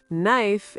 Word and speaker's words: knife: Knife is spelled K-N-I-F-E, but we say knife without the K sound.